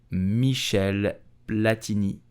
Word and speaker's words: Michel Platini: the uefa until 2015 so how do you pronounce his name correctly you will say michelle platini michelle platinische michelle platinisch did you know that